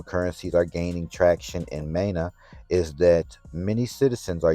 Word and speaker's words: MENA: So it's central bank digital currency in the MENA region, or MENA region. I would pronounce it MENA.